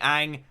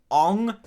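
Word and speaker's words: Aang: bending is not good the way they pronounce a lot of names specifically Ang yeah it it really does just make my insides just boil like on my name is on and I'm the Avatar that's not H how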